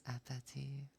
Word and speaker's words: appétit: So instead of apple, it's appétit. Appétit. And yeah, bon. Instead of like bone, it's bon. Bon appétit.